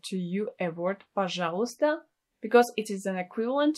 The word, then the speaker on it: пожалуйста: It may seem that this word is really difficult to pronounce. It's not really. Just make sure that you don't pronounce a letter Y. So you just say, пожалуйста, пожалуйста.